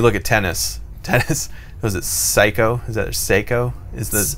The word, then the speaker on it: Seiko: But if you look at tennis, was it Seiko? Is that Seiko? Is the clock? S-E-I-K-O, I think. Seiko, yeah. I think. I don't think it's pronounced Psycho.